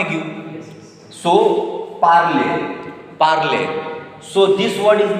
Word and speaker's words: parle: So this word is made of two syllables. Parle, école, école, parle.